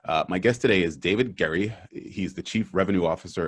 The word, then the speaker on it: Gerry: challenge now my guest today is David is pronounced Gary I should have asked you before is it Gary Oh Jerry Gary Gary okay my guest today is David Gary he's the chief revenue officer and head of